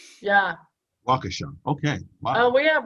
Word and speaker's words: Waukesha: You have to, just sort of wrap your mouth around those multiple syllables with weird vowels. Yeah. Waukesha.